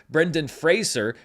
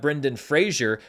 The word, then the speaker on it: Brendan Fraser: this entire award season, and then of course Brendan Fraser, not Brendan Fraser, which I've actually been okay on, but a lot of other people have struggled with.